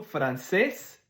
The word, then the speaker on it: francés: En espagnol, hablo francés et inglés. Fait que si tu vois ce que l'accent, c'est là qu'il faut que tu fasses l'intonation. Deuxième syllabe. Francés, inglés.